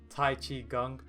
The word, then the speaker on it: Tai Chi Gung: Now the next one is Tai Chi Gung, and I didn't mispronounce that.